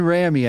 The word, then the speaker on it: Rami: Damian Rami, I think is how you pronounce that. Rami, Okay.